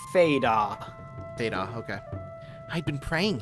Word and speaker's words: Fado: It's probably supposed to be Fado with how Japanese is pronounced, but... Let's go with Fada.